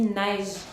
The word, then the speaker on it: neige: Parce qu'à l'oral, quand on dit le mot neige, on dit seulement une syllabe. On dit neige. On ne prononce pas le E à la fin.